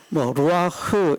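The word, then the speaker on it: רוח: 루아흐 이렇게 말하지만 루아흐 말이 좋아 흐지, 이게 흐가 아니고, 제가 그런 말씀 드렸죠. 저 발음 잘 못합니다. 가래를 뱉을 때처럼 이런 표현, 이런 발성법이랍니다.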